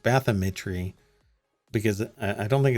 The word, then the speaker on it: bathymetry: i think it's pronounced bathymetry because i don't think it's bathymetry i think it's bathymetry bathymetry of more than 1.4 million